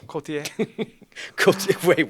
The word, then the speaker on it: Cotillard: We're talking about the Mario Cotillard. Assassin's Creed movie. See how I pronounced her name so well? I stepped over Marion it, so. Cotillard. Wait, what? That's how you pronounce it.